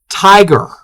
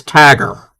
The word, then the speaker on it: tiger: Tiger. She pronounced tiger as tagger. We're like, what? That's not a Maryland thing.